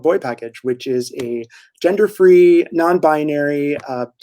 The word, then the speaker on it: BoiPKG: up with the name it's spelled b-o-i-p-k-g so tell us a little bit about it no boy package boi because you own